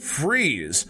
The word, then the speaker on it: Fries: just the name in fact fry's is actually pronounced freeze another odd fact is the local river nearby